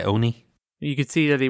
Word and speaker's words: ONI: Oh, they just pronounced it Oni in the audiobook.